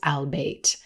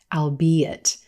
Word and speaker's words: albeit: pronounce this word as albate this word actually has three syllables and is pronounced albeit albeit it's a fun